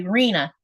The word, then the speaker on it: Reena: I'm in Arkansas, so it's pronounced as if there is two E. Okay, Reena, gotcha.